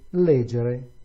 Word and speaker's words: leggere: With leggere is on the third to the last, and audire, again, penultimate syllable.